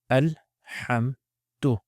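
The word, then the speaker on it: الحمد: So again, exactly the same pronunciation, alhamd. Say it with me. Alhamdu.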